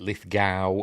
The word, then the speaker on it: Lithgow: Uh, it's also got John Lithgo. Was it Lith Gao? I've heard it pronounced both ways.